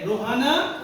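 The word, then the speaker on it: Rohana: ओ एच ए एन ए ये किसी का प्रोनाउंस प्रोनाउन है नाउन है तो रो हा ना रोहा ना क्या हो गया रोहाना ये छोटा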